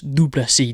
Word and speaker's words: du Plessis: Derek Brunson versus Dricus du Plessis, DDP. The S is silent.